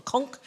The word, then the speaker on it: conch: is a queen conch actually in the United States it's called a conk but the British say a conch so about 3,000 years